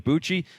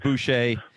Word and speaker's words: Boucher: his last name too I was between Buchi and Boucher I went the wrong direction but Boucher uh the proper way to do it and you know